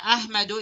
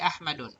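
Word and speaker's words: أحمدُ: Okay, kaya Ahmadu is the right pronunciation. Ahmadu, hindi Ahmadun. So Ahmadu jalisun ma'a Khalidin.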